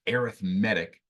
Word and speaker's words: arithmetic: that looks like the word arithmetic but it's pronounced arithmetic sequence so an arithmetic sequence and then we're